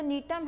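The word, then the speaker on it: Gnetum: ध्यान रखना कि जो नीटम है उसमें जी साइलेंट होता है और जो गिंगो है उसमें के साइलेंट होता है।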